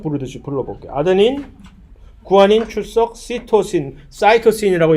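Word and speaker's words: cytosine: 아데닌, 구아닌, 출석, 사이토신이라고 영어로 발음하는 사이토신, 시토신, 사이민이라고 영어로 발음하는 티민.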